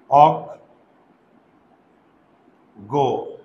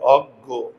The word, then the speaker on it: অজ্ঞ: আমি এখন বলি অজ্ঞ এবার কিন্তু শব্দের শেষে শব্দের শেষে শব্দের শেষে যদি থাকে খেয়াল করো তাহলে এটা হবে অগ গো শব্দের শেষে যদি থাকে তাহলে আমার এই উচ্চারণটা হবে অজ্ঞ বোঝা গেল বিজ্ঞ দেখো